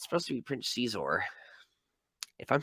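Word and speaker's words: Xizor: And his name's pronounced like if you're saying X in Chinese spelling.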